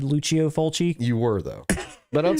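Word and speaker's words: Lucio Fulci: Luchio Fulchi. Come on. Don't y'all have your Italian pronunciation down?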